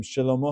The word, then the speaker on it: Shelomo: word Shelomo, the name Shelomo HaMelech. That is a Sheva Na, and it's pronounced Shelomo.